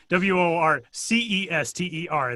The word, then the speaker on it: Worcester: W O R C E S T E R.